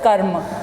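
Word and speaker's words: कर्म: When you write ka, when you put a small ra on the top and ma, you pronounce the word as children karma. You pronounce the word as karma.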